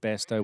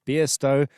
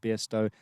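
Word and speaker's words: Bairstow: And I said Besto when I should have said Beersto. We already corrected ourselves on that earlier today. That's the correct pronunciation, Beersto.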